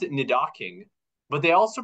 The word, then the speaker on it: Nidoking: They pronounce it Nidoking, but they also pronounce it within the same episode, Nidoking and Nidukong.